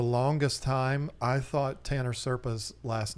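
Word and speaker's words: Serpae: But yeah, I felt like a real idiot when I found out that it was Serpa, because, that's how it's spelled, but still.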